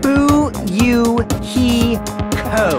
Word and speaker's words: Fuyuhiko: last name is my first name is pronounced boo you he co i'm still an inexperienced